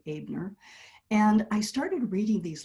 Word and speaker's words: Abner: It's pronounced like the German way. The E is pronounced A, Abner.